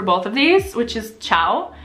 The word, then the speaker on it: ciao: thing I would suggest if you want to sound a little more local when you say ciao is to hold your out more at the end a lot of people who don't speak Italian natively save ciao like really quickly just like ciao like puppy chow almost but in Italy were